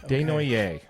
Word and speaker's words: Desnoyers: So yeah, the Utah Mammoth select number 4, Caleb Desnoyers is how you pronounce that. Desnoyers, 18-year-old kid, 18-year-old center out of Montauk, which is in Quebec.